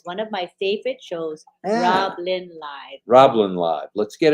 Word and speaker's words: RobLynn: RobLynn. RobLynn. It's one word. RobLynn. And it's one syllable.